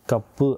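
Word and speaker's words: カップ: சோ இங்க க இப் பு இந்த சுவானது அதற்கு அடுத்து வருகிற பு அப்படின்ற சவுண்ட வந்து எம்பதைஸ் பண்ணி இரட்டிப்பாக்கி இப்பு அப்படின்னு வந்து உச்சரிக்கப்படுது சோ க இப்பு கப்பு அப்படின்றத வந்து நம்ப இத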